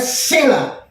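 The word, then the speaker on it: צלע: Nah, tapi kalau di dalam yang kita baca tadi, tulang rusuk di bahasa ini Ibraninya adalah sela. T-S-E-L-A. Sela. T-sela. Jadi bacanya sela.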